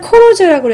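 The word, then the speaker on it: колхоз: 짓는데, 이때 당시 소련은 코로즈라고 해서 이런, 코로즈 이렇게 발음을 하는데, 그런 집단 농장 제도가 있었어요.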